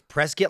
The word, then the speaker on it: Prescott: So there's even like it's Prescuit like a biscuit. Yep. That's exactly what she said. Prescuit like biscuit.